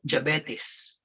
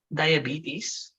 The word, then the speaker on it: diabetes: then you ask because i have interviewed people who said javettis okay what's the proper pronunciation it should be diabetes right i've heard people